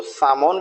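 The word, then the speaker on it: salmon: WAL के walk, FOL के Fock, HALF half, PALM पाम और SALMN तो सामोन भी बोल देते हैं और सैमोन भी बोल देते हैं।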